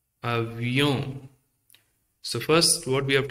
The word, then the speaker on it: avion: We already know the first letter, and avion. See, here's the pronunciation avion, avion, and avion, and avion.